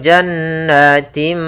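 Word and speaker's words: جنات: nah kemudian pada lafal jannatimi yaitu adanya kasratain ya kasrain bertemu dengan huruf mim maka Apabila ada kasratain bertemu dengan mim maka kita masukkan tanwinnya ke mim ya maka jannatimi sambil ditahan m tim kemudian Min kemudian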